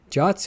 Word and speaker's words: JWT: Jots are always represented using the JWS compact serialization or the JWE compact serialization. The suggested pronunciation of JWT is the same as the English word Jot, and that's what I'm going to be doing.